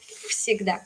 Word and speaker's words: всегда: Porque, por ejemplo, la palabra siempre, digo всегда, y se escribe con V, pero se pronuncia como всегда, con F.